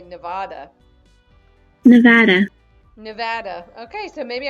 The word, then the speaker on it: Nevada: He said it more like Nevada, and I say Nevada. Nevada. Nevada. Okay, so maybe I'm pronouncing it.